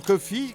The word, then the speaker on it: Coffey: du personnage mémorable de John Coffey comme le café mais ça s'écrit pas pareil quand par le regretter